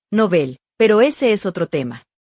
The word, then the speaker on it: Nobel: Por cierto, la RAE recomienda pronunciar el nombre del premio como palabra aguda, o sea, nobel, pero ese es otro tema.